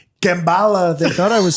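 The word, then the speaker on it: Kamala: So he's like, Kambala, they thought I was saying it wrong when I said Kambala.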